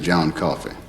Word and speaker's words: John Coffey: Your name is John Coffey. Yes, sir, boss. Like to drink, only not spelled the same.